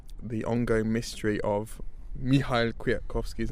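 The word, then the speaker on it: Kwiatkowski: how it's pronounced well I understand the elf doesn't get mentioned it doesn't get pronounced on on me so it's not me so because a nail with a line through it so the Polish football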